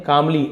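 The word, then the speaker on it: calmly: लेकिन जो पक्षी महा पक्षी थी उसने कामली एल साइलेंट है कालवली नहीं बोलेंगे कामली शांति से बोलते हैं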